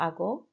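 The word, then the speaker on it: hago: leo libros ago mr remember that's a silent h there for ago salgo but i know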